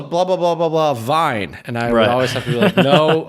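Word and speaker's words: Wein: Veen which is German for Vienna and then vine which is German for wine and so you know I would write Veen on the chalkboard and they'd say Oh blah blah blah blah blah vine and I know like it's Veen and so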